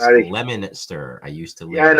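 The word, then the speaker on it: Leominster: Your Oh friend yeah, from Massachusetts is in the chat, and he oh says yeah, it's pronounced Scotty. Lemonster.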